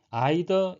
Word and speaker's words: either: 해야 된다라는 의미가 되겠습니다 A 또는 B 아이더 이더 둘 다 발음이 가능하고요 영국에서 선호되는 발음은 아이더 미국에서는 이더가 선호된다고 합니다 이것은 둘 다 아니라고